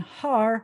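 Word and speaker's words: הר: And then ha, we already saw a few times, means the, and har, or as I like to tell the kids, how do you say mountain in Hebrew? You say hardy har har.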